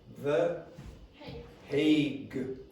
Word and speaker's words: The Hague: International Criminal Court, and the pronunciation is The Hague. Okay, like say Hague, The Hague.